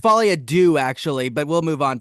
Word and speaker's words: Folie à Deux: It's pronounced Folie à Deux, actually, but we'll move on from there.